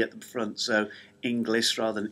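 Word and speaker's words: Inglis: end and no e at the front so English rather than English um he is also from Overton uh where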